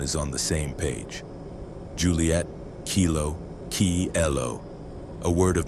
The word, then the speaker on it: Juliet: Juliet, Julie-a-T, spelled with that extra T at the end. This was another careful choice, especially for French speakers, so they wouldn't be tempted to leave the final T silent.